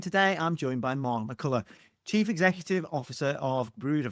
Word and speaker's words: McCullough: I say it McCullough, but that's perfectly fine. McCullough is perfectly fine.